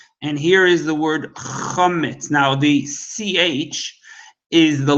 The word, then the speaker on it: chometz: And it's, even though some people pronounce it chometz, it's really pronounced chometz.